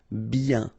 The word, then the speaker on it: bien: Okay, so remember, when you get this combination of I, E, N, you get the sound yen, yen, okay, and then B. Bien.